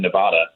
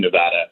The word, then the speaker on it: Nevada: up down here and i always said nevada and i moved out to california lived there for about 10 years and spent a lot of time in nevada yep and it is nevada that's how they say it there is okay right